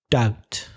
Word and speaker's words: doubt: Doubt. D-O-U-B-T, silent B.